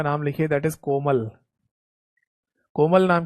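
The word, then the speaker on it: COMAL: रहा होगा, है ना, बट कोमल अगर किसी लड़की का नाम है तो उसकी स्पेलिंग में के होता है, सी नहीं होता, पर यहाँ पर सी है, पर बोला वही जाएगा कोमल।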